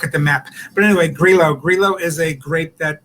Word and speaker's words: Grillo: and uh and the grape that is in this wine is grilo it's spelled grillo g-r-i-l-l-o uh grilo and it's made by